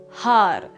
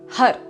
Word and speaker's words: Har: the mantra hard now when we pronounce hard you'll be striking the top of the roof of your mouth with your tongue as well as pumping very strongly through the navel Center so when you say Hut you'll be bringing your navel inward towards your spine and the pronunciation is more like Hut with Addie at the end a UD sound rather than har har-har hut hut hut